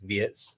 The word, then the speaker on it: Wirtz: Like Terry, you said it correctly, it is Wirtz.